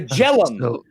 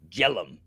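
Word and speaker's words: Jhelum: name of the high down speeds now the jellum the jellum do you know where the jelum river is um j h l j h e l u m jellum yeah I think it's somewhere in the North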